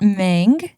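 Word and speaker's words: Meng: by Aunt Woo's assistant mang who is very excited that her name rhymes with Ang as she should be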